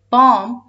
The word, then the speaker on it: bomb: letter b is but when these two letters come together at the end of a word the letter b becomes silent for example look at this word say it with me bomb is a dangerous object